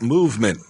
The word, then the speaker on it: MVMT: And you you pronounce that movement as in bowel movement.